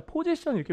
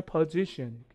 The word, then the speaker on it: position: 그러니까 위치나 자리 같은 걸 포지션이라고 부르는데 우리가 포지션 이렇게 외우면 안 되죠. 왜냐하면 이게 강세가 어디 있냐면 뒤에 있습니다. 그러니까 이렇게. 그러니까 철자는 중요한 게 아니거든요. 그러니까 뭐야? 포지션이 아니라 position.